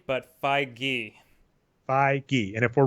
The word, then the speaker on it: Feige: correct for Kevin F pronunciation I'm seeing it's Feige Feige fine okay not okay G or Phi he or Fage okay well the good news